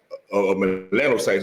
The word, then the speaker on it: melanocytes: melanocytes.